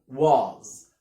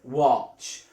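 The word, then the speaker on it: watch: قلنا الاي لما يجي وراها دبليو بنطقها كده مفتوحه ما اقولش واز واتش والسي اتش بنطقها تشا واتش.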